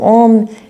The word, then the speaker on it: om: So om isn't actually just om. It's actually a u m.